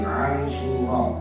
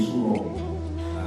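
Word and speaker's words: عاشوراء: Nah, jadi Asyura, ain, alif, shin, waw, ra, alif, ada hamzahnya juga. Jadi bacanya Asyura, ada pengorah juga. Asyura artinya hari yang ke-10. Tapi orang Jawa mungkin susah mengucapkannya dengan benar, akhirnya jadi suro.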